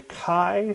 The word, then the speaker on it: chi: it's necessary so the kai Square distribution it's usually pronounced um or spelled how do they usually spell it chi I think uh so Kai Square not chai square Kai not the chai